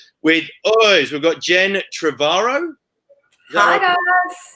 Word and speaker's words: Trevorrow: We've got Jen Trevorrow. Hi, guys. Is that how I pronounce it, Jen? Yeah. Beautiful. Yep.